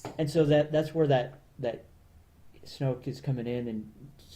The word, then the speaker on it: Snoke: Well, nobody knows what Darth Vader became Snoke, other than right?